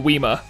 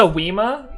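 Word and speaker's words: Whismur: What's a Weema? It's Whismer pronounced in an English accent.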